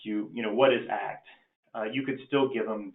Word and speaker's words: ACT: at least one basic act intervention in this talk so what is that it literally stands for acceptance and commitment therapy it's pronounced act because it's an action based therapy if you call it